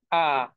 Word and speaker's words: A: সবার শুরুতে দেখেন আ, আমরা ইংলিশে বলি কি আ, হ্যাঁ আমরা তো বলি কি এ, ইংলিশে বলি হচ্ছে এ। আর জার্মানে এর যে উচ্চারণ সেটা হচ্ছে আ, এটা লিটারালি আ।